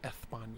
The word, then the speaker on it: España: Well, that's how they say it in España. They say España.